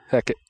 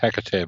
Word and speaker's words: Hecate: Heck it. I will go ahead and spend the inspiring charge. That's pronounced Hecate, by the way.